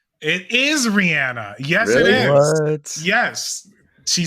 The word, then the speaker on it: Rihanna: rihanna it's it is rihanna yes it is yes she says it herself that's you know we we pronounce it rihanna i did not know for the longest time she had an accent yeah i mean and